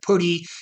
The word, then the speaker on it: PuTTY: So we call it PuTTY on some part of the globe. Other people call it PuTTY. It just depends on where you're on that side of the globe and how you pronounce it.